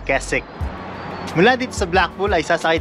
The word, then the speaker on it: Keswick: We are particularly going to the town of Keswick. It is spells as Kes-wick. But it is pronounce as ''Ke-sik''.